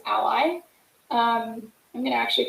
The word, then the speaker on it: a11y: will misspell it um so a11y but short is ally um i'm going to